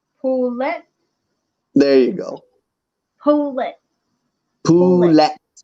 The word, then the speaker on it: poulet: Pole. No. Pola. Pole. No. No. Say it how it's said. Spelled. Say it how it's spelled. Poulet.